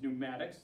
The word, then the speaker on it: pneumatics: So fluid power systems can be gas, which is pneumatics, the P is silent, or it can be liquid, hydraulics, to transfer this power.